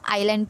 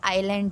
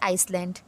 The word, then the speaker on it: island: अब आप बोलोगे मैम स्पेलिंग में तो ISLAND है, बट बेटा यहाँ पर S साइलेंट रहता है, इसको हम आइलैंड पढ़ते हैं। इसका जो प्रोनाउंसिएशन है वो आइलैंड है, ना कि आइसलैंड, ओके, ना कि इसलैंड, ओके।